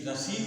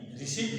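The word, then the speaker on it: receipt: आर स आरई सीई आई पी टी ये रसीद इसका कहते हैं इसको रिसीव कहते हैं इसका उच्चारण होता है रिट तो ये प का उच्चारण होगा ये रिसी है रिसीप्ट नहीं है रिसीप्ट और यस कप बोर्ड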